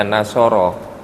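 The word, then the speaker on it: نصر: Dimasukkan wazan fa'ala. Cara paling gampang begitu. Kalau nggak mau cari ke kamus, ketik nun sod ro, nanti kamus yang akan mengharokati. Oh, bacanya nasoro, gitu.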